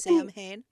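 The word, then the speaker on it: Samhain: I know some people kind of butcher that uh name because it's spelled a little funny. Um over00 Sam Hayne.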